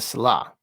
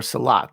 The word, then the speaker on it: salat: Pillar 2, praying the salah, or salat, depending on pronunciation.